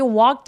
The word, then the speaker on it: walked: 자, 여기 walked 할 때 A하고 K 사이에 있는요 L은 묵음이에요.